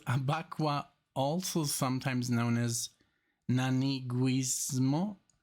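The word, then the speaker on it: Abakuá: Abakwa, with an accent on the A at the last, the second A. Abakwa.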